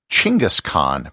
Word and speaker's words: Genghis Khan: of a tribe and genghis khan simply means the universal khan and it's also sometimes pronounced chingas khan but i'm going to continue with the anglicized genghis khan for the rest of